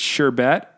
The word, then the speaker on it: sherbet: There's not an R in the first one, and there is. So it's sherbet. Sherbet. Okay, sherbet, pronounced sherbet.